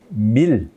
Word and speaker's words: 밀: 요거는 안일미자 이게 이제 주검시자인데 요게 시라고 읽혀서 있지만 요게 고대의 어떤 그 표기법을 보면 요 시자가 시옷 발음이 나는 게 아니라 리을 발음이 납니다. 그래서 요거는 아마 여기다가 이 모습은 요거는 고대의 뭔 글자를 쓴 거냐면 밀. 요게 미고 여기에 리을 받침을 넣어서 밀이라고 이런 하는 글자를 우리말을 표기한 글자일 거다라고 하는 사람도 있습니다.